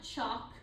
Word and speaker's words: chalk: to spell this so chalk is actually the spelling pattern a k like walk like chalk like talk so that is a common um spelling pattern where that L is silent okay and then over